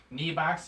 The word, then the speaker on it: Nebox: box right yeah Val you pronounce it knee box he calls a new box I have it oh